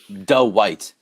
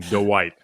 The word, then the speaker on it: Dwight: I mean, Doe White. So yes, he does turn that into a 2-syllable thing. It's a very strong Dwight.